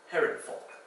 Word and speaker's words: Herrenvolk: Herrenvolk, where the F sound is spelled with a V there.